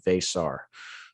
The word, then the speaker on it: Veesaar: of the other i think that the official pronunciation guide according to the media release is actually vasar bay star okay so you might hear both